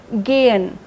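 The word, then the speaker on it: gehen: इट यस इट इज गेयन गेयन जीई एच ई एन गेयन जबी भी हम पढ़ते हैं उसका एच जो है वह साइलेंट रहता है गेन गेन गेन मतलब टू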